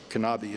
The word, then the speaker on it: Knabe: But one of the most interesting, most interesting one was a guy named Gustavus Knabe, or Knabe as some people pronounce it, K-N-A-B-E.